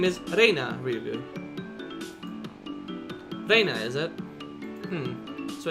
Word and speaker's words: Rena: Her real name is Reina Ryugu. Reina, is it? So it's read out as Rena instead of Reina. That's a pretty interesting reading. No, that's not it. Reina is the correct way.